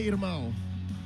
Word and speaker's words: irmão: It's just Them's my irmão. how do you say that? Irmão. Irmão. It's Portuguese for brother.